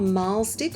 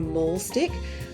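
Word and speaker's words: mahlstick: hand on it's called a Mal stick or a mole stick I found the pronunciation depends on where you are in the world but it's a super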